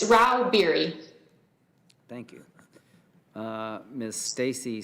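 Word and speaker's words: Rauh-Bieri: yes chairman I'm here how do you say your name ma'am it's Ral beer thank you uh Miss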